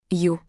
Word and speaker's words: Ю: It sounds like the English word you. Ю.